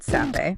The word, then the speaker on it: Sappe: It's created by David Sappe. Pronounced Seppi. Pronounced Seppi.